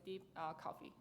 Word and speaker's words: DeepCoFFEA: feature extraction and amplification in short deep coffee so our tank is never ever related to coffee but you can pronounce it as a deep coffee so here we propose